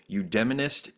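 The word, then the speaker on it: eudaimonist: describe yourself as a UD demonist Democratic pragmatist so good good did I pronounce it right you did very well I mean it comes from the Greek so Aristotle is the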